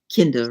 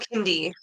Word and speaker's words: Kinde: So Yeah, well, it's like, okay, you find it, and you said Kinda, right? hmm Oh, Yeah, well, Kindi actually is the indeed. correct Indeed. Okay, pronunciation.